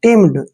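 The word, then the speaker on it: timid: dynamic next word देखिए टी आई एम आई डी टी आई का pronunciation हमने टी करना है टी एम आई को मी पढ़ना है मी और डी का उच्चारण डे करते हैं टिम्ड देखिए टिम्ड ऐसे पढ़ेंगे इसको टिम्ड टम मींस होता है कायर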